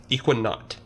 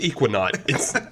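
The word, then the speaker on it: Ekuanot: Equinaut.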